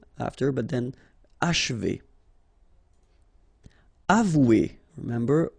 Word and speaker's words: achever: Achever, okay, and then if you want to pronounce it the way French people will do, so don't insist too much on this and you will get achever, achever. It's a bit tricky, this